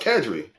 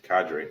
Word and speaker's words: cadre: ] the English language huh no the first pronounced Kadri it's Cadre but c-a-d-r-e yeah Padre in my damn life